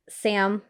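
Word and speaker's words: Sa5m: love vanessa hutchins character sam it's but it's spelled s a five m so it's sam the five is silent and being a nine-year-old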